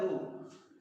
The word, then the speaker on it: rho: तो इसका सिंबल होता है रो, ऐसे वर्ड से बनाते हैं हम लोग, रो। ओके, आप ऐसे पढ़ सकते हैं इसको, RHO, इसमें H होता है साइलेंट, तो इसको क्या बोलते हैं, रो।